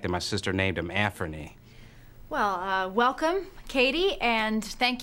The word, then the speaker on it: Anfernee: I have a nephew named Anthony, and I know how mad he gets when I call him Anthony.